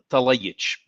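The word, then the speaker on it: Talajić: How do you say that C with an accent over it? Talabor. Wait. Show me the name again. Dalibor Talajic. The J is a Y, and the C is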